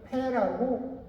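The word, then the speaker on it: פ: 이 단어를 패라고 읽습니다. 패.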